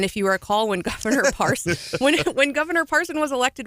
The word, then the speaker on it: Parson: And if you recall, when Governor Parson when Governor Parson was elected, we spent months educating people. It's not Parsons. You heard no and you S still, on the end.